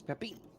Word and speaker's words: Pepin: No, it's French. It's Pepin. You don't pronounce the N. It's Pepin. Pepin. It's Pepin. French. You don't pronounce the N. It's Peppy.